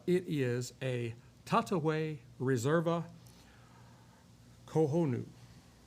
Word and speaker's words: Cojonu: But anyway, uh it is a Tataway reserva kohonu. C O J O N U. Kohonu. I think that is the proper way to pronounce that.